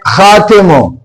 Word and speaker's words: خاتم: پر ایک لفظ ہے خاتمو، خے الف خا، تے میم تے، تم خاتم۔ تو آپ دیکھیں بریکٹ میں خے کے اوپر زبر، الف سائلنٹ، اور تے کے نیچے زیر اور میم سائلنٹ۔ تو خاتم، خاتم کا